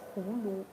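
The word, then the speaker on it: 葫芦: Uh first of all, gourd in Chinese we pronounce this we call this Hulu.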